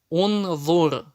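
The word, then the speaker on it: انظر: Если третья буква огласована даммой, как это первый столбик у нас, значит в таком случае хамза туль-васль всегда читается У. Уш-дуд, ур-куд, унзур.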